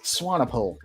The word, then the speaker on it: Swanepoel: How do you pronounce it's Swanepoel.